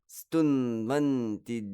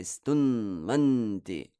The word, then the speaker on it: stunvanti: Notice how I say stunvanti. I don't just pronounce it as lagus, stunvanti. Stu and nva are both gurus, and therefore I show it by giving them that heaviness, which requires for me to kind of hang on that n, stunvanti.